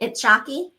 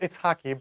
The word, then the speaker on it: Itshaki: Am I saying your name right? Itchi. It's pronounced Itaki, but it's totally fine.